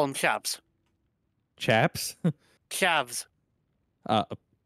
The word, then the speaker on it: chavs: mean rednecks yeah we call them chabs chaps chavs uh how do you spell that c h a v chavs okay yeah okay I I thought you were